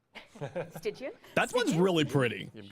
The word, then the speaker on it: Stygian: This is the Styanax Ravus skin by Malaya and Stygion. Stygian. That one's really pretty. You've got a lot of pronunciation.